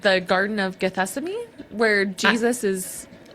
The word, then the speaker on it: Gethsemane: And then I've never been totally sure how to pronounce this. Gethamine. Oh, Gethsemane. G. Oh, G. G. G. Gess. Oh, Is that how you say it? I think so. Like the Bible.